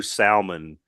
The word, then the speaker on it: salmon: and I we know salmon the L is not pronounced but we don't like